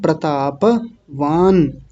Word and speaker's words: प्रतापवान: आपका जाना पहचाना है प्रताप वान बड़ा ध्यान रखना है प्रताप नहीं प्रताप प को भी पूरा बोलना है प्रतापवान न पर हलंत है तो वहीं रुक जाएंगे